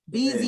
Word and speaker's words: Beezy: i appreciate you bro beezy you know i said your name wrong last time oh yeah no you would be surprised how many people call me that breezy but he was saying